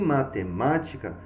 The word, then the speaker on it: matemática: Em matemática, eu já tenho a antepenúltima sílaba.